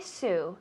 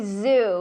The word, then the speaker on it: zoo: pronunciation with the zoo we don't say su su is a woman she's lovely that's her name we say zoo we have to say zuzu with a vibration the elephants at the